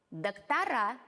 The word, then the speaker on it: доктора: Доктор, доктора.